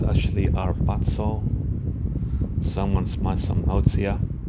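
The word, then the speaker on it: ἁρπάζω: said to me that harpazo in Greek is actually pronounced without the H, so instead of saying harpazo, you gotta say arpazo without the H.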